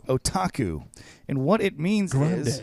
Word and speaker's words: otaku: introducing to our listeners so the word is otaku otaku otaku and what it means is Grande do it